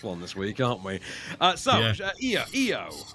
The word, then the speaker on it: EO: EO, which I believe is still pronounced EO in its native Polish, but is spelt IO in Polish.